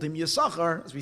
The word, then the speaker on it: Yisachar: Yisachar, but it's spelled Yisaschar.